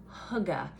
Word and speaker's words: hygge: state of mind called hugga which is really weird to pronounce because it's spelled h y g g e but it's actually i believe danish and it's about being